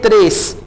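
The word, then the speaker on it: tres: त्रेस, टी को आपने ट्रेस नहीं कहना, आप इसे प्रोनाउंस करेंगे त्रेस, यानी जैसे ते होता है ना।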